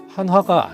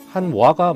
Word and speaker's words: 한화: 수 있겠지만 4 아닙니다 하나의 화는 이게 아니고 우리들이 보통 무엇이라고 와 표현해 와 시라고 하는 단어와 같이 wha 로 끝이 나는데요 그래서 하나는 스펠링 상 하나가 아니라 한화가 맞는 표현이 되겠습니다 자 어떠신가요 오늘은 이렇게